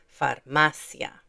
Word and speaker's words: farmacia: So, the stress is going to be on this syllable, farmacia.